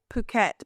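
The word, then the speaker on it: Phuket: you can't say that I say puket but others what how else would you pronounce it fu fuk fuk fuk is it fuk fuk fuk I forget how you say it fuk fet yeah see I've always said puket but others say fuk anyway anyway fuk so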